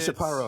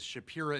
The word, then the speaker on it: Shapira: Well, the first funny thing about that is Shapira is the correct pronunciation. I say Shapira. So really, either way, you're in good shape.